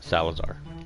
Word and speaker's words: Salazar: Salazar.